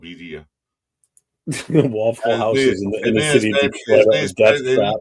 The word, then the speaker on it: birria: Yeah, that's how they pronounce it. It's called birria.